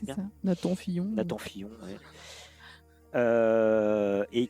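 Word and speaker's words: Nathan Fillion: mal qui était nassan Fillon si je le prononce bien c'est ça Nathan Fillon Nathan Fillon ouis euh et qui il est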